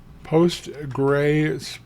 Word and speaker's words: PostgreSQL: what is called the post gray SQL post gray pronounced like g r a y SQL so what we're looking for is we're saying do you have a demon out there called postr SQL and if you do